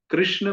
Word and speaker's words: कृष्ण: तो जीभ शॉर्टकट लगाती है वहां पर, र और श उच्चारण कर देती है। तो हमें पीछे मोड़ना है और उच्चारण करना है कृष्ण।